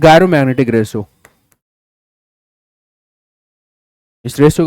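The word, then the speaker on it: gyromagnetic: अब इसको कोई और कुछ प्रोनाउंस करता होगा तो वो उसकी अपनी समस्या, भाई मुझे तो देखो तुम्हें पता ही है, गायरोमैग्नेटिक ही बोलते हो। नहीं, कुछ एक बच्चों को मैंने सुना जायरो मैग्नेटिक बोलते हैं, बहुत जायरो बोलते हो तुम लोग।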